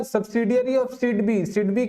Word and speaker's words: SIDBI: सिडबी आईडी SIDBI, सिडबी ही pronounce करते हैं।